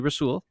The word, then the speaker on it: Rasul: Andy Herman is still calling him rosul to this day that's fine his name is really rasul rul but you know keep saying it wrong every time okay here we